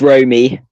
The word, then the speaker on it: Romy: It's Romy. It's like Romy. the city of Rome, but it has a Y at the end.